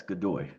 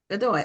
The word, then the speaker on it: Godoy: So your last name is pronounced Godoy? Yes, Godoy. Godoy.